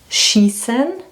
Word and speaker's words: schießen: And now the two words where it's really important to know the difference, and this one is schießen, so that means to shoot, and scheißen, that means to shit.